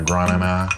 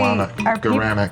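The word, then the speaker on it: guaraná: I get my granana. Granana. So is that actually Guarana. Guarana. But are people mispronouncing that, or it's a different thing?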